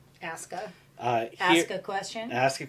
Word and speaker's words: Asuka: In WWE, her name is Asuka. Asuka.